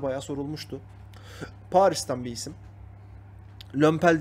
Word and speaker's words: Lomepal: Lömpel diye okunuyor aslında.